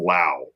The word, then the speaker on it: Lou: letterbox from from from it's spelled Lou but he says rhymes with wow so it's from Lao he's a paid Patron